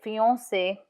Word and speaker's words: fiancé: C in front of E is pronounced S. So fiancé or merci, merci.